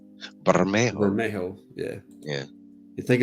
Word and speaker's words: Bermejo: I like saying it different ways because I think it can be pronounced different ways, but like traditionally it would be Bermejo.